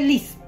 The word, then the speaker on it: LYS: ¿Saben que en Instagram lo pronuncian a L-Y-S? L-Y-S. Pero les voy a poner LIS. L-I-S. O sea, L-Y-S en inglés. L-Y-S Beauty. Pero les voy a poner LIS. LIS Beauty.